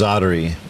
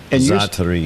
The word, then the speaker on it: Zaatari: How do you pronounce that camp's name? That camp is Zaatari. Zaatari.